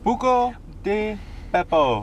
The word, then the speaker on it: Buca di Beppo: Buca de Beppo.